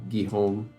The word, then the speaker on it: Guillaume: First bit you got right, last bit is pronounced more like home. I imagine you mean home like how you would say in English and not home, where the H is silent. So it's Guillaume.